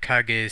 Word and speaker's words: Kage: Otherwise known as The Legend of Cage. Some would prefer to call it The Legend of Kage, since that's the approximate pronunciation.